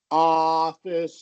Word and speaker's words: office: Uh and so there was that element that should not be in that short o vowel sound. It should be wide open. Office, you know, like office.